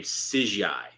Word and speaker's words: Sijai: And that's how you pronounce the name, Sijai. CGI.